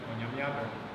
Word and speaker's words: Onyamiadom: Onyamiadom, so the Onyame and Yadom, you don't pause between them. Onyamiadom. So some of these, even though they're written as separate words, when you actually pronounce them, it sounds like they come together.